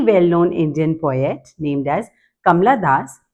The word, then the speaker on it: Kamala Das: named as kamla Das I tell my student as Kamala Das because this is how they you know spell it correctly in the examination otherwise they write kamla however it is Kamala in spelling terms right ready for for